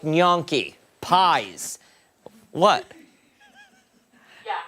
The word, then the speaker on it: gnocchi: I always said it like gnocchi. How do you say it? Same way, gnocchi.